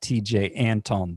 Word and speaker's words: Antone: out the window for TJ Antone. And that's spelled T-E-J-A-Y. That's TJ, and Anton, A-N-T-O-N-E.